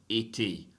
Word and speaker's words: été: Été, été, été. So if you have a final E that has an accent mark on it like that, you do have to pronounce that E, right?